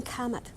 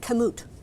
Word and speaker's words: Kamut: Growing kamut. I didn't say it right. Kamut. Right. Kamut is one of those